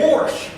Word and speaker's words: wash: You Kansans can't say that word without throwing in an R. I don't know why you do that, but it's wash.